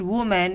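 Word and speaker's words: women: की, अगेंस्ट किसके विरुद्ध, वुमेन, विमेन प्रोनाउंस करेंगे इसको, विमेन, औरतों के बारे में,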